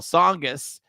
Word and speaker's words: Tsongas: might not remember this, but Paul Tsongas it was very difficult to pronounce when he was running from county commissioner to U.S. Senate. So he did this famous commercial, and he had one person after another mispronouncing his name. And then at the end, he came in and said, no, it's Paul Tsongas.